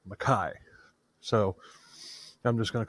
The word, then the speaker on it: Mackay: David McKai is actually spelled McKay but it's pronounced maai so I'm just going to call him Mai I might I might slip up and call him McKay who knows but whatever yeah who cares an